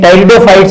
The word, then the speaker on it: Pteridophytes: इसमें टेरिडोफाइट्स बोलते हैं इनको, पी जो है साइलेंट होता है इसमें, ठीक है।